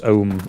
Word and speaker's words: Ogham: Yeah, so it's called, the English is usually called Ogham, but I think it's Ohm. It's Ohm or Orm, I think, is the actual modern Irish pronunciation.